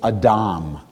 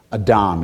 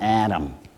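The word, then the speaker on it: אדם: translate as man is a Dom you know imagine when you pronounce it that there's an H in there right a Dom it's not Adam right Adam is a boy's name a Dom is the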